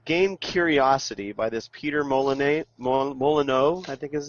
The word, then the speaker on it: Molyneux: me because the game Curiosity by this Peter Molyneux, I think is how you pronounce Peter his name. Molyneux.